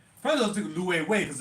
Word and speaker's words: Loewe: pronounce it just like Loewe. I didn't know it was called Loewe. I just called it Lowe's. I never knew it was called Loewe. No, Loewe. First I was thinking Loewe because it's W, but it's L-O-E-V-E.